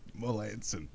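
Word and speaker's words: Melancon: Melanson. Melanson. You gotta admit that it looks like it would be a hard C.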